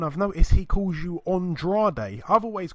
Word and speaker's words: Andrade: Demetrius Andrade.